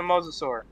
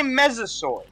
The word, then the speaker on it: mosasaur: Yes, it is a mosasaur. Did you just say mesosaur? Yes. I'm special. Is it because I pronounced it wrong?